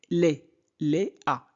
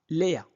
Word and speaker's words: Léa: Léa, Léa, E accent aigu se prononce E, E. C'est bon? Donc, Léa, Léa.